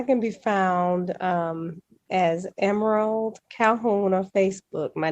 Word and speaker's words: M'rald: social media i can be found um as emerald calhoun on facebook my name is spelled m-r-a-l-d calhoun c-a-l-h-o-u-n um i can be